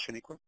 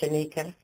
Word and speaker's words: Shaniqua: Does that make sense, Shaniqua? Yes, and thank you, but it's pronounced Shanika. Oh, I apologize, Shaniqua. No problem. Everybody makes that mistake. I don't know why.